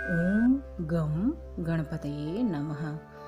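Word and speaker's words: गं: ताकि आपकी सभी मनोकामनाएं गणेश जी शीघ्र आते शीघ्र पूर्ण ज़रूर करें। तो मंत्र है ओम गम गणपतये नमः। गम जो शब्द है उसे लोग गण भी बोल देते हैं, जो कि गलत है।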